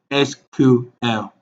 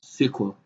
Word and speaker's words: SQL: Now, like I said, SQL is pronounced as SQL or SQL.